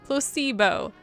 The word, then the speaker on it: placebo: to our vocabulary today repeat after me Placebo the stress is on the middle syllable Placebo Splendid it's so